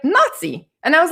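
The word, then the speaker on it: NACI: the national advisory are actually called nazi and that's how they say it guys okay where were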